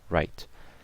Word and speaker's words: write: too sure writing so the word W R I T and obviously the e is silent so write 15 fifa13 ok like